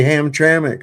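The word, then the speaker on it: Hamtramck: That That place is in between Leavonia and Ham Tramik. Yeah. Okay. Ham Tramik. Oh, you know how to pronounce it.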